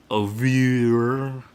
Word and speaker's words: oeuvre: Flag Flying, definitely near the bottom of his oeuvre.